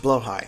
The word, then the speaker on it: Blåhaj: Also, it's pronounced Blåhaj.